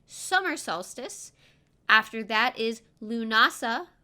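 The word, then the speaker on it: Lughnasadh: solstice after that is lunasa which some people call it les mis or llamas sometimes people call llamas as if the animal just because it's kind of funny and silly and lunasa is celebrated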